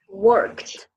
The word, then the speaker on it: worked: And before, and remember that when with the work with ed at the end, so you have to pronounce, okay, for T sound. Worked, Worked, worked in worked, administration, okay?